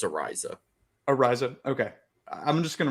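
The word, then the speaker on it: Araiza: I just say punt god because I can't pronounce that. We'll just I'm call like him punt 100% sure it's Ariza.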